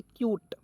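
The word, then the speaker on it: cute: यूटी ई तो देखिए सी का उच्चारण आधा क के रूप में यू टी ई आया तो इसका उच्चारण हो जाएगा यूट के रूप में क्या पढ़ेंगे क्यूट क्या हो जाएगा दोस्तों क्यूट हो जाएगा ठीक है चलिए नेक्स्ट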